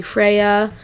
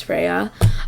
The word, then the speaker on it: Freyja: is spelled f-r-e-y-j-a but her name is actually freya um or as people said in their discord server it's freya um but yeah so